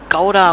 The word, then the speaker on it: Gouda: Also viele sagen das mal falsch. Das heißt eigentlich Gouda. Ich war schon mal in Holland, deswegen weiß ich das. Das G wird immer H ausgesprochen.